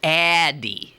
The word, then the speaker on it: Addyi: And it turns out it's pronounced Addyi.